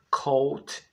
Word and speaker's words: coat: Coat é o casaco. Nota-se que na palavra coat, a letra A não se pronuncia.